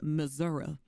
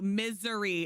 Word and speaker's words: Missouri: Outlaw's like, it's pronounced Missouri. I'm sorry. In Missouri. Oh my gosh. Yeah. It's too hot. It's too hot. So yeah, no, misery is how it's pronounced. There's misery in Missouri.